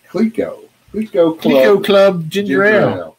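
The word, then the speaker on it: Clicquot: see that dude and this is pronounced cleco let's go club ginger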